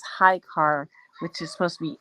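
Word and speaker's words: Ahikar: called The Book of High car that's the way you pronounce it High car but it's spelled a h i k a r but it's High car which is supposed to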